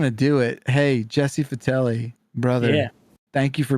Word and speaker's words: Vitelli: It's a hard I. It's Vitelli.